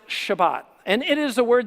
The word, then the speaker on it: Shabbat: one word the sabbath a sabbath is literally a hebrew word uh pronounced shabbat and it is a